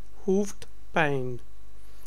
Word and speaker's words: hoofdpijn: Remember that I and J are sound like Y. It's E and J in Dutch. So it's Y. Ik heb hoofdpijn.